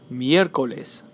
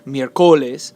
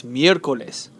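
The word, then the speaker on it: miércoles: it is placed here miercoles it's not mercoles or mycoles it's mircoles the stress is on the third or last syllable so because that happens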